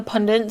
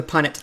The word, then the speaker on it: Punnett: i love the um the pundit square the punnett like yes punnett yes pundit put it that's how much i love it i know how to say it so punnett yes the punnett